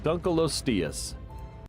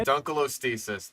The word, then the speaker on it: Dunkleosteus: Okay, Dunkleosteus. That is a butchered pronunciation. You had an acceptable one at the beginning, and now you have Dunkleosteus. You're putting letters in there that don't exist.